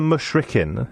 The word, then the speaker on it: mushrikin: months have passed, then kill the mushrikin, is that the right way of pronouncing it? That's correct, yeah.